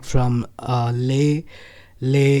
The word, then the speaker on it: Leh: like from uh lay lay is a place in jammu and kashmir in the northern part of india and it is spelt as leh and that's how i